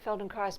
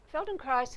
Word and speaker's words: Feldenkrais: I'd grown to love Feldenkrais is about learning and you say it like rice at the end amazing that Adrienne rice